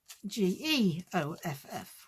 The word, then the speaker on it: Geoff: is Jeff the Giraffe, but it's spelled G E O FF, which is Geoff. So, I call him Geoff now instead of Jeff.